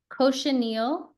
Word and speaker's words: cochineal: Oh, The- cochineal. Cochineal is how it's pronounced in English.